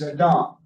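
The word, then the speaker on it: אדם: But as I said, the Hebrew word here is Adam. And I say Adam as opposed to Adam, because if I put the stress on the first syllable, Adam, that is a way of distinguishing Adam, the Person.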